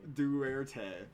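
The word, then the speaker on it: Duterte: President Duberte. Duerte.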